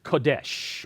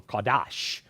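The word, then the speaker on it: קדש: holy is from the Hebrew word Kadesh or kadash whichever pronunciation you like best which means set apart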